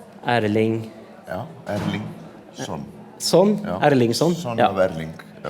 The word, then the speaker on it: Erlingsson: I have to pronounce this right. Erling. Ja, Erlingsson.